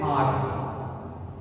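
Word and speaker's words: hour: एच ओ यू आर, spelling S से लेकिन बोलते हैं आर। How many आर you will take, आर, आवर नहीं, आर, एक्चुअल जो इंग्लिश प्रोनाउंसिएशन है वो आर है, आर।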